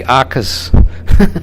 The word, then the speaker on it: Ochs: Ochs? You did. There you go. Like the famous I'm trying to pronounce everybody's name.